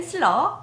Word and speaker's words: slur: 이음줄 가로 쳐 놓고 어떻게 적혀 있냐면 slur 슬러라고 읽어요 그래서 이음질의 영어 이름은 슬러 붙임줄의 영어 이름은 넥타이